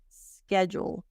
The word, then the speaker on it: schedule: this word SK now the D sounds like a j SK jeel Jewel like jewelry schedule and this is the